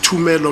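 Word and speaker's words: Thumelo: The third suspect I interviewed was Tumelo Madlala, it's spelled with a TH, Tumelo Madlala, who was much traumatized.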